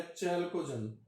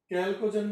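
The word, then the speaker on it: chalcogen: Oxygen परिवार 16वें वर्ग को सामान्य नाम दिया गया चैल्कोजन। चैल्कोजन, ये कैल्कोजन भी लिखा रहता है कई बुकों में, इंग्लिश का प्रोनाउंसिएशन है वो।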